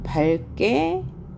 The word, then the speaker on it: 밝게: 특히 리을 기역 다음에 기역이 연달아 오면 기역을 발음하지 않고 리을로 발음한다. 예를 들면 밝게, 밝게라고 발음하고 리을 기역